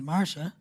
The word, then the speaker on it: Marca: Her name is not Martha. Her name is Marca.